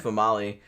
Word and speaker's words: Female: Yeah, but it's pronounced Famali.